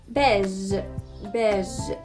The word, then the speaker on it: beige: beige ينطق بالفرنش accent يعني بالطريقة الفرنسية.